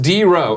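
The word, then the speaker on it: DRux: D Rux87, pronounced D Row. Oh, because he's using that EUX shit, like when the Saints say go.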